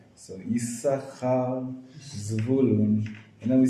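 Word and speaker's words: יששכר: Not bad, but the shin in Yisachar is a sin. It's a sin. Oh, sin. With a dot on the left hand, so it's Yisachar, right?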